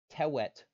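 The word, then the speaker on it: twt: example two ton commonly that first part is toot that's t-w-t tewet is a reasonable pronunciation based on this rule but we like to approximate w uses use because it makes it sound nicer it's toot also for the record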